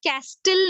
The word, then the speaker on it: castle: What is T over here? T is silent. आप castle नहीं कहेंगे. Okay, sand castle. All right, T is silent in this word.